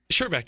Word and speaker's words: Sherback: How do I say your last name? Sherback.